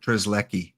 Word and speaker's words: Strzelecki: I'm going with Strzelecki. S is silent.